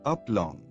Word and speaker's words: aplomb: Pronunciation, aplomb.